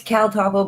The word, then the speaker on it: CalTopo: It's CalTopo, but I think it's for the more sharing with search groups.